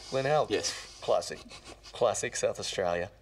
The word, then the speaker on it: Glenelg: It's SA, and I do believe the suburb is Glenelg. Glenelg.